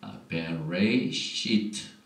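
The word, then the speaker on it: בראשית: 오늘 토라 포션의 제목은 베레시트 이렇게 시작이 되는데 이 글자가 하나, 둘, 셋, 넷, 다섯, 여섯 글자가 베레시트 이렇게 발음을 하고 이 뜻은 in the beginning 태초에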